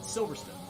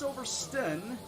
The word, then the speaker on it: Silverstone: Do you actually say stone, or do you shorten it to the stun?